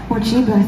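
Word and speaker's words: Morcheeba: Mochiba, thank you.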